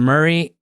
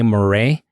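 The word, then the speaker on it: Moray: Proof ryas finish and Murray uh it's spelled m o r a y you you kind of want to say morray but everything that I've seen they always call it Glenn Murray so that's what I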